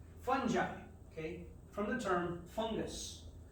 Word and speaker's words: fungi: okay and i know people like to say fun guy but that's not how it's pronounced it's incorrect it's fungi okay from the term fungus we don't say